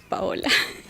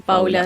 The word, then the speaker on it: Paola: Primero quiero corregir que mi nombre es Paola. Paula, Sí. Igual sí. Está bien. Es re común que me digan Paula desde el disculpa, jardín.